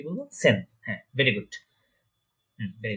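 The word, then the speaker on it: zehn: এই যে দেখছেন এখানে জেড, জেডটা আমরা আগেই বলেছি এটা স বা সি এর মতো উচ্চারণ হয় বা এস এর মতো উচ্চারণ হয়, এটার প্রোনাউন্সিয়েশনটা অনেকটা। ঠিক আছে, তাহলে এটা উচ্চারণ কি হচ্ছে, প্রোনাউন্সিয়েশনটা সেন।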